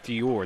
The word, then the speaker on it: Feuer: Yeah, it's like Jameson Feuer. Feuer, that's how you say it, yeah.